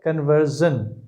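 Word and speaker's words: conversion: इसे British English में pronounce करेंगे कन्वर्शन, मगर अमेरिकन में इसे प्रोनाउंस करते हैं कन्वर्जन।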